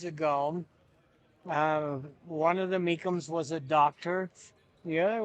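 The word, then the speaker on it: Mecham: in the score book there is a mikum. My mother was a mikum, but they spell it differently. Um, m- e c h a m is kind of what you see more uh today.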